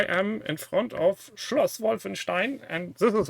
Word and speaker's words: Wolfenstein: So, as you see, I am in front of Schloss Wolfenstein, and this is how you pronounce it.